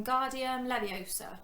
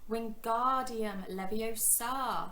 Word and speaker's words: Wingardium Leviosa: having much luck when guardian leviosa he shouted waving his long arms like a windmill you're saying it wrong harry heard hermione snap it's wingardium leviosa make the gar nice and long you do it then